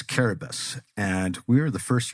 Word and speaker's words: Kiribati: It's spelled as you would see it, Kiribati. but it's Caribus.